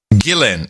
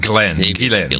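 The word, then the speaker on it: Ghislaine: he says we learned that her name is pronounced glenn oh please what he said gillen gillen gillen not glenn whatever yeah she is a liar that's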